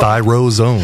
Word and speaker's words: ThyroZone: ThyroZone.